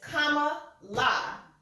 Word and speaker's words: Kamala: It's Kamala because it's Indian.